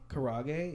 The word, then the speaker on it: karaage: how to pronounce this and you probably do it's spelled ka ra g GE kara karaage yeah so I had that it was pretty